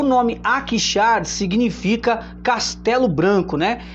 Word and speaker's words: Akhisar: Como eu disse, atualmente ela chama Akşar, né, que fica na Turquia. O nome Akşar significa Castelo Branco, né? É um nome assim que se escreve com AKHISAR, né?